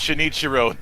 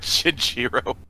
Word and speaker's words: Shinichiro: not surprised about that it's shinichiro not chichiro shinichiro ride your favorite director